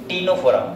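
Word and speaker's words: Ctenophora: कौन से फाइलम पे, टीनोफोरा। किस पे आते हैं, तो यहाँ पे मेरे ये सी से स्टार्ट होता है, ध्यान रखना। और टीनोफोरा में इसमें सी क्या है, साइलेंट।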